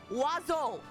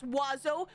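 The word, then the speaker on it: oiseau: you okay and I like okay fine that's pronounced wazo how do you okay so fine Birds singular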